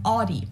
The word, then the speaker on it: Audi: thousands of classes for the first one is Audie most Americans that I know pronounce it like I I say Audi that's